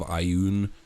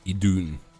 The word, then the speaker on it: Idun: wrong I found out I've kept calling them the apples of aun it's uh idun uh so that's also